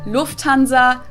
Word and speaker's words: Lufthansa: but it's so difficult the emphasis on the first syllable lufthansa versus lufthansa nice and that